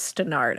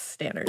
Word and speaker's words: Stannard: And I looked up the pronunciation to say it because I thought it was Stannard at first, but it's Stannard.